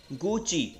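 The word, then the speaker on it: Gucci: इसको प्रोनाउंस किया जाता है गुची, राइट। तो अगर गुच्ची आप बोलते हैं तो वो गलत प्रोनाउंस होता है, राइट।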